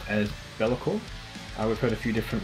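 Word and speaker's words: Be'lakor: Hey, this is from the Australian melodic death metal band, correctly pronounced as Bellicor. We've heard a few different ways of saying it. We've heard Balaka, Balakor, and quite a few others, but I can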